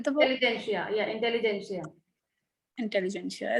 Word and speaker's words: intelligentsia: Intelligentsia. It's a T is silent there. Yeah, intelligentsia, it is pronounced like this.